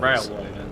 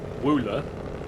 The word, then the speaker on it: railway: Railway. Yeah, it took me 3 hours to pronounce Ruler correctly. Well, how did you used to say it? With a W. Wooler. Yeah.